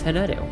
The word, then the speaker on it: Hanedu: If you're asking how to pronounce it, it's Hanedu. Welcome in. My name is Hanedu, your local idiot cat girl.